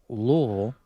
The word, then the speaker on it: Louisville: Louisville. This is an interesting one, or Louisville, as it is pronounced.